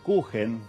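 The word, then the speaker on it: Kuchen: La palabra cuen que se escribe con ch, pero la ch en alemán se pronuncia j, es el término que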